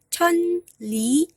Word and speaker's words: 천리: Ya, ini tulisannya 천리, tapi dibacanya 천리 ya. Karena nien bertemu dengan liel akan membuat seakan-akan bacim nien ini adalah liel juga.